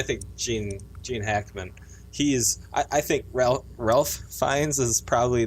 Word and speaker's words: Ralph: But it's, I think Gene Hackman, I think Ralph Fiennes is probably like the Rafe? I don't know. Rafe. It's Rafe. Which is it? I'm telling you, it's Rafe. The L is silent or somehow.